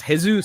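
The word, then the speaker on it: Jesús: you know but but it's unfortunately your name's it's pronounced hey Zeus so you know what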